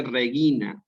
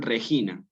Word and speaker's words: regina: está en la prueba es fehaciente de que se dice regina sí y después para más pruebas favor míos del audio del canal en el que también se dice regina entonces nunca digan regina no es este tema